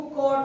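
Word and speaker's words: cot: ऑन द कॉट। कॉट कहते हैं बच्चों चारपाई। इसका जो प्रोनाउंसिएशन मतलब उच्चारण जो होगा ना, वो कॉट होगा, ना कि कोट।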